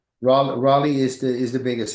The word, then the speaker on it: Raleigh: I've been out there towards uh Riley. Is that how you pronounce it? Riley. Rale Raleigh is the is the biggest city.